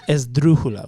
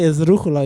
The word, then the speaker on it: esdrújula: Esdrújula with a D.